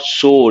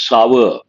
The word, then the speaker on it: sour: and the next one people mispronounce it is not sore it is sour it goes with milk or acidic in nature sour not sore painful or aching after